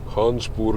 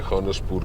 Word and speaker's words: Khanspur: खानसपुर कह लें, खानसपुर कह लें, दोनों प्रोनाउंसिएशन चलते हैं।